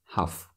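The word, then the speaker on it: ҳафт: when we say that we don't pronounce t at the end half like that she studied seven foreign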